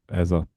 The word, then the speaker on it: Eze: Well, if you got Trossard and Eze or Eza, as it should be Well, we're pronounced, going to say we'll go with Eza and we'll we keep go Eza.